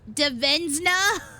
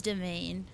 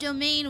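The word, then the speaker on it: demesne: Uh yeah, it's pronounced domain, which drives me up a wall. I hate English, but it's French. It's Anglo French.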